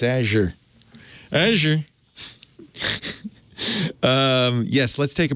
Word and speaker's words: Azure: Well, now we know it's Azure.